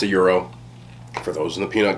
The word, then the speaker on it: gyro: meat lamb nero meat um some people do pronounce it gyro and i think it's just like an anglo-sized version but it's a euro for those in the peanut gallery i haven't